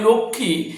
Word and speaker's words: লক্ষ্মী: হবে লক্ষমী পূজা আমরা জানি এই লক্ষমী পূজার লক্ষী এই বানানটা অনেকে ভুল লেখেনলক্ম বানানটা হচ্ছে ল কয়ে